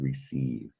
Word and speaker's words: receive: we have the word receive and the c is definitely making a soft c sound an s sound because c is followed by e that's cool about c